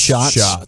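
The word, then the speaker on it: Schatz: guy Aaron shots or shats or shots whatever it is from ESPN spelled like shats but pronounced shots he said what Rogers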